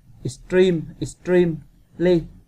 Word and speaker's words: extremely: Câu số 6 các bạn đọc là extremely có nghĩa là nhấn phần 2 này các bạn. Cái từ ly này sẽ không làm thay đổi dấu nhấn của câu.